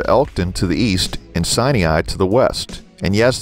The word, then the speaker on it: Sinai: the towns of elkton to the east and sinai to the west and yes that is the correct pronunciation of sinai the name was given to it by norwegian